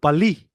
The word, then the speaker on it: Bali: teleport to aruba aruba Bali I think I pronounced it right let's see no it's it's called Bali Bali n joking hey don't